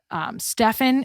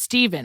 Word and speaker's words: Stephen: read the story about Stephen. Is that how you say his name? No, Stephen. It's Stephen.